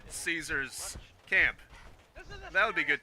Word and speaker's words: Caesar: which And like I is, said, Caesar's camp. That would be good too. Although technically the proper way to pronounce it is Kaisar.